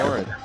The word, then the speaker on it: Morin: Sorry, yeah, Alistair Morin. Not French team, don't have to pronounce it that way.